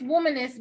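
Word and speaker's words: Wombynist: woman that's a womanist it's womanist but like it's womanists but it's spelled womb w-o-m-b-y-n-i-s-t okay what i had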